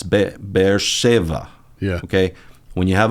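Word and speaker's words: Be'er Sheva: is in the word, it'll be a v, like a English v. Yeah. Soft B, English V. Beersheva, not B.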